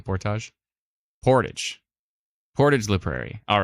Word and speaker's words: Portage: some pronunciation tips here it's like porridge Portage ah what'd I say Portage like carrying a canoe above your head kind of thing Portage Portage Portage la Prairie